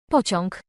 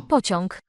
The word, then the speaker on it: pociąg: Pociąg. Pociąg. Pociąg. That's a tricky one, because all is the A with a line. All. But having the G at the end.